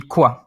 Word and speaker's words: quoi: In French, what would be quoi?